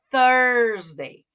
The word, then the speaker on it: Thursday: não se confundir aí um é two né o a sílaba Inicial ali e o outro é com a língua no meio dos dentes ó thursday tá terça e quinta